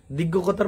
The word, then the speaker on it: দীঘ: আজকে কথা বলব দীঘনিকায় দীঘতার মানে দীর্ঘ সংস্কৃতিতে যেমন দীর্ঘ উচ্চারণ করি পালিতে প্রাকৃতিতে দীঘ এরকম উচ্চারণ নিকায় এটা দীঘনিকায় ব্রহ্মজাল